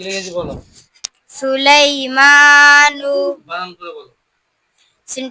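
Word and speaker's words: سُلَيْمَانُ: সুলাইমানু। বানান করে বলো। সিন পে সুলাম ইয়া জবরলাই সুলাই। মিম খারা জবর মা সুলাইমানু নাও পেশ নু সুলাইমানু।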